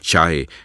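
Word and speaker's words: 拆: side dust that and the omnipresent Chinese character pronounced chai and meaning demolish elsewhere you write about how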